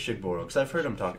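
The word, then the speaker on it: Shugborough: I believe this word is pronounced Shugboro. It's pronounced Shenangler. The Shigboro inscription. I think it's Shigboro because I've heard him talk about it.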